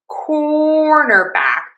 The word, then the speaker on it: cornerback: So again to say cornerback primary stress on core unstressed in the middle and then back gets some stress. Cornerback cornerback cornerback cornerback cornerback.